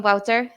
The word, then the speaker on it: Wouter: sustainability management but let's talk about wouter welcome wouter thank you very much for joining us today